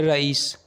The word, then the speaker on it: رئیس: नाम है रईस। रईस नाम के इंग्लिश में स्पेलिंग है RAEES रईस।